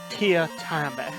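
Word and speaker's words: Teatime: It's pronounced Tia Time.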